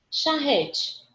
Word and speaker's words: charrete: Charrete. Charrete, charrete. Porque a pronúncia da gente é com esse ezinho mais fechadinho, com sonzinho de i, né?